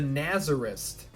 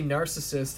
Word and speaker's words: narcissist: i remember for years i called him the nazarist because that's how my brother pronounced it when he was like five and i got older and i heard them say narcissist and then i realized